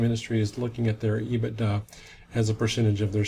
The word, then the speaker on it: EBITDA: I call it EBITDA. It may have other names with people, other pronunciations, but anyway, EBITDA is going to be